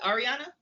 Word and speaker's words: Arieanna: Is it Arieanna? Yes. Okay, Arieanna, just want to make sure I'm pronouncing her name right.